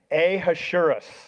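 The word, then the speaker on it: Ahasuerus: Um, Xerxes name, Hebrew name, uh, we were talking about this in our staff prayer meeting today trying to pronounce it. It's Ahashurus. Ahurus.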